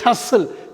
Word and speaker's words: hustle: ஆனால் உச்சரிக்கிறப்ப நம்ம படிக்கிறப்ப இந்த உச்சரிப்பில் டி இருக்கக்கூடாது. ஹஸ்ஸல், HUSTLE ஹஸ்ஸல்னு தான் படிக்கணும்.